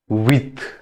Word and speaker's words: huit: Huit. H is silent.